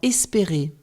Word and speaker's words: espérer: Il y a 3 fois le son « et » dans « espérer ». Découpons maintenant le verbe « espérer » en syllabes.